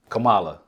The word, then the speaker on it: Kamala: Kamala.